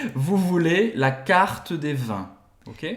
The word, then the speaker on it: carte: Aqui eu não digo carte, eu não digo carte. Lembra que o E, geralmente no final do francês, não é pronunciado. Termina onde? No T. Vous voulez la carte de vin.